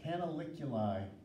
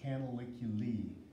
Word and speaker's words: canaliculi: and they are called canaliculi or canaliculi once you have the spelling right over here CA na LIC you li like I mentioned either one's an acceptable pronunciation canaliculi or canaliculi so but when up